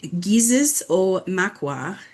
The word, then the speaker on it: gizis-o-makwa: He is a member of the Red Lake Nation tribe and is the owner of Solar Bear, pronounced Gizis o Makwa in Ojibwa.